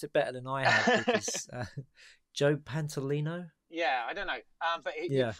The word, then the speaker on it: Joe Pantoliano: that I never get I think you've you've pronounced a better than IRS joe pantoliano yeah I don't know yeah a frequent wachowski